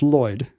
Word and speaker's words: QX: He wanted to change his middle name to QX, but it would be pronounced Lloyd.